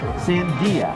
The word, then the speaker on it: Sandia: Sandia.